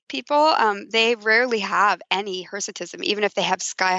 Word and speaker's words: hirsutism: Hirsutism.